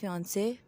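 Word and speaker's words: fiancé: फंसे ही कहते हैं यहां पे इनकी स्पेलिंग चेंज है बट इनकी प्रोनंसिएशन सेम ही है और फिंस का वर्ड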